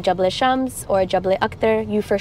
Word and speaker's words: Jebel Shams: But it's Jebel Shams.